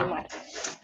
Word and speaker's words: Ludimar: Perfecto, creo que con eso responde la pregunta que nos hacía Ludimar, creo que así se pronuncia el nombre de nuestro aspirante, o bueno, de la Ludimar, persona que nos acompaña. Ludimar.